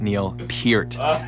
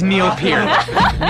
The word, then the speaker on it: Neil Peart: So as Rush elitists, I am bound by the core of my honor to let everybody know that it is pronounced Neil Peart.